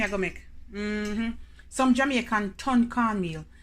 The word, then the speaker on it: tun cornmeal: Some Jamaican ton cornmeal. It's nothing about no turn cornmeal. Yeah, you can spell it away there, but Jamaican pronounce it as ton cornmeal.